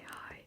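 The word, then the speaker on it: Hei: Now, it is like hi, like you would say hi, but it's spelled H-E-I with a little accent on top, so it is spelled differently, but it sounds like the normal hi.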